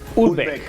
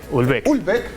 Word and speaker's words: Houellebecq: Prima, ¿cómo se pronuncia? ¿Es Houellebecq? Houellebecq.